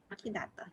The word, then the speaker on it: Kidato: Okay, second winner, Kidato. Am I pronouncing that right? Kidato, yes. Okay, that's 2.